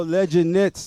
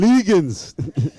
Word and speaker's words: Legend Knits: Yo, Legend Knits, man. Man used to say, yo, we need them Legans.